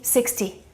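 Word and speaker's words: sixty: There are two exceptions. That's number 50 and number 60. 50 and 60 we pronounce T, 50, 60.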